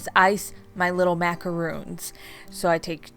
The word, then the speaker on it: macaron: Sorry if I'm butchering the way you say macaroon. I tried to Google how you pronounce it, and it was saying that Americans say macaroon, but like French, they say macaron.